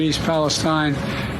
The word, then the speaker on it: East Palestine: I haven't had the occasion to go to East Palestine there's a lot going on here and I just haven't been able to break I was thinking whether I'd go to East Palestine this week but I've then was reminded I've